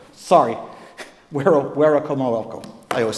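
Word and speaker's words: Werowocomoco: is not too far from Wahunsanacock's hometown of Weramoko. Sorry, Werakomoko.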